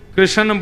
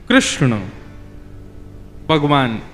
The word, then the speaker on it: कृष्ण: लाल की जय बंधुओं कई कई लोग इस नाम को अशुद्ध बोलते हैं। कई लोग कृष्ण बोलते हैं। कई लोग कृष्ण बोलते हैं। कोई कृष्णा बोलता है। भगवान का नाम शुद्ध उच्चारण करो। नाम क्या है? कृष्ण भगवान।